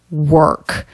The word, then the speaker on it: work: down in vocal energy the word work this is a really tough word don't try to make a vowel it's the r vowel consonant combination er this is how we do it in american english this vowel doesn't really